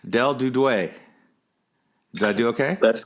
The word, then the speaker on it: Duduit: how do you saying in southern Ohio lingo it's pronounced did--we did way French pronunciation is dude we did we so any combination I'm fine